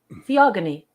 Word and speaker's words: Theogony: Theogony.